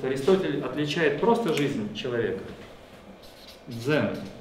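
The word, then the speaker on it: ζῆν: Дзен. Не пугайтесь, читается как дзен.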